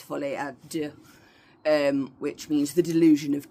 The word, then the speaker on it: Folie à deux: In French it's Folie à deux, which means the delusion of two.